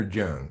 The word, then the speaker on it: Jung: just proves that um is it pronounced Yung or Jung it's pronounced Yung usually so so that's what